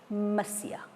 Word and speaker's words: Monsieur: M is short for Monsieur. It is pronounced Monsieur.